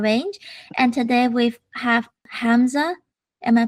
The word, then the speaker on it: Hamza: I help run the Cyber Range, and today we have Hamza. Am I pronouncing the name correct? Yeah, Hamza.